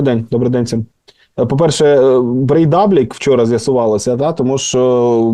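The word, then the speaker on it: Breiðablik: Наголос в них завжди от на передостанній склад. Я теж начебто з'ясував, але там є якісь виключення в їхній мові, тому є, тому що Брейдаблік представляє місто Копавогюр і там наголос на букву О.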